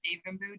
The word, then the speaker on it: Devanbu: I think all of my social media platforms are all linked to my full name, which is Davenboo. Davenboo is spelled Devanbu.